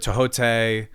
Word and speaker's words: Thoth: to know what is so tote is is where you is what you pronounce it as have you heard it in other ways oh i've heard it tohote thoth okay because i normally say thoth yeah that's like that's my favorite way to say it but um